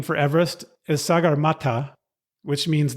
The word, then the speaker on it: Everest: the name and interestingly he pronounced his name Everest so I guess I should say Everest oppos the name but